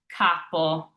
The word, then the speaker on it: capo: It's always a tall, open A. So an example of this is the word capo. I have that tall A here, and I wrote the phonetic pronunciation here. So capo.